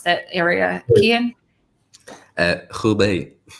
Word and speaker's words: Hubei: guys, COVID lockdown in the, how do you pronounce that area, Kian? Hubei. Hubei region.